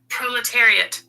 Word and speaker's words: proletariat: Let me turn up the volume so you can hear what it's how it's actually pronounced. Proletariat.